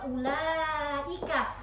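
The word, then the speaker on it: أولئك: Nah, ini paling banyak juga ini kan apa, ulaika itu pasti bacanya ulaika. U-nya itu tidak panjang kan?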